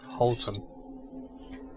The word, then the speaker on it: Houton: Houton, Okay, so that's how it's pronounced, not Houton.